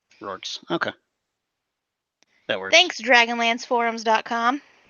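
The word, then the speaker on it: Reorx: According to this Dragonlance pronunciation archive, it's pronounced like roar, R-O-A-R, with a K-S at the end, so Rorks. Rorks.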